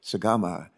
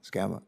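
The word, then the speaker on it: Sgamma: times and she can count and her name is spelled s-g-a-m-m-a i wanted to call her sagama and she says no no no it's gama skama so we're going to try to get her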